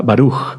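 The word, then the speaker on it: בָּרוּךְ: Por ejemplo, perdón, y o y la interpretación puede ser la primer sílaba fuerte y la segunda sílaba suave. Por ejemplo, con la palabra baruj, bendito barug. Sí, la primera fuerte.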